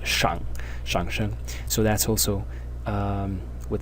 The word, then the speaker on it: 上: And when it is pronounced in the third tone, shang, it is the name of one of the tones in classical Chinese phonology, which is the shang sheng.